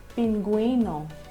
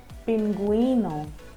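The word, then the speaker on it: pingüino: When used on the vowel U, the vowel U is pronounced. Let me help you pronounce the following examples. GUE becomes vergüenza, vergüenza. And GUI becomes GUI, pinguino, pinguino.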